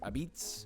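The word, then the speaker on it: apizza: this New Haven pizza but they also pronounce it abitz I don't know what's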